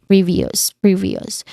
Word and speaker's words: previous: Next is previous, which also has previous. Now there's three distinct sounds here, starting with pre, which has a short e sound as well as it is the stressed syllable. Then v, which has a short e vowel sound, and us. Again, us. There's a schwa sound there, so it's relaxed, it's unstressed, it's a weak vowel sound.